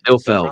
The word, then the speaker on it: Ilfeld: I'm going to say Eifeld. Am I pronouncing that right? Ilfeld. Right? Ilfeld. Okay. James is the most intellectual among us. What is it? Ilfeld? Yes, Charles Ilfeld.